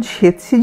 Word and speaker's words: tsetse: উচ্চারণ সেতসি যদিও কিন্তু বানানটা গোলমেলে, ইংরেজি বানান হচ্ছে TSETSE, TSETSE। আসলে এখানে এসে অবধি দেখেছি বানান নিয়ে বড়ই গণ্ডগোল।